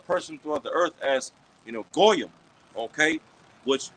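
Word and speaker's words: גויים: They look at the average person throughout the earth as goyim. Okay, which the proper Hebrew word for goyim is really gawayam. Okay, that's how you pronounce Gentile in the Hebrew, gawayam, which goes into, okay,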